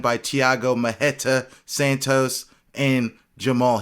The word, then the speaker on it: Jamahal: thiago mahetta santos and jamal hill not to be confused with gemma hall hill as it's spelled anyhow as always guys